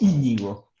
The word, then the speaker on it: Íñigo: Lleva acento en la primera I, es Íñigo.